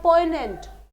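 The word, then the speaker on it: poignant: next हमारा word है पोनेंट पोनेंट य पर जी साइलेंट होगा पोनेंट का मतलब क्या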